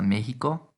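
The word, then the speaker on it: México: also be easy pasa mexico goes thou to mexico the x in mexico now makes the same sound as the g in eologia and just like in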